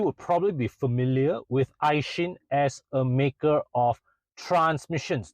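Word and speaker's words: Aisin: So now, to start with, despite the spelling, the company's name is actually pronounced Aishin with an implied H between S and I.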